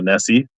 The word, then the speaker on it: Nessie: This is basically half price on a Nessie for $6. Rhymes with Vessi.